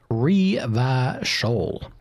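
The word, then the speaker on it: Revachol: Reverso is pronounced re-va-shol. Re-va-shol.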